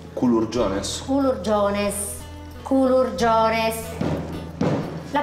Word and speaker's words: culurgiones: Questi sono i culurgiones. Culurgiones? Culurgiones. Culurgiones. La pronuncia è importante.